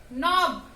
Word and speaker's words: knob: Knife, no, knock, knob, night.